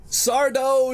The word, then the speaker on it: Sardo: No, mister. Accent on the dough.